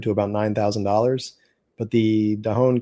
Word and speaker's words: Dahon: Dahon, is that pronounced right?